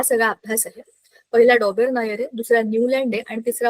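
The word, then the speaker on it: Döbereiner: लोकांनी ट्राय डोबेर नायर तिने बरोबर सांगितल डोबेर नायर त्याच नावच अस आहे त्याला मराठी मध्ये डोबरा नायर काही लिहिले मराठीच्या पुस्तकात पण त्या स्पेलिंग तुम्ही प्रोनान्स डोबेर नायर सारखं वाचता येत आपल्याला लिहितानाच्या हिशेबाने आपण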